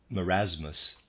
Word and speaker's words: marasmus: die beforehand through other causes than wasting or marasmus in its fullest flowering or more aptly unflattering readers aside marasmus is spelled ma are AAS mus and the readers